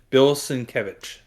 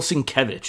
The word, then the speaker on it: Sienkiewicz: I said it correctly last time because Curtis said it today, and Bill Sienkiewicz. Bill Sienkiewicz, okay.